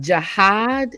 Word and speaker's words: jihad: It's called, is it jihad? Am I pronouncing it correctly?